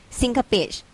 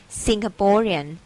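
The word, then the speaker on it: Singaporean: สิงคโปร์ เรียน นะ คะ สิงคโปร is ไม่ มี อ่ะ ออก เสียง ร ตลก ไหม ชลบุรี ลอง ออก เสียง ดู สิงคโปร เอดส์ เออ ตลก ดี ไม่ มี นะ คะ ไม่ มี สิงคโปร์ เรียน สิงคโปร์ เรียน เนาะ และ ที่ สำคัญ อยาก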